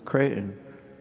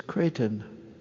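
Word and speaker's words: Creighton: Even the pronunciation of our university, they would pronounce it crayon. Whatever happened to the T? It's Kraton.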